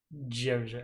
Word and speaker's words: Djoser: I can never pronounce that. Is a D and a J right next to each other. Djoser.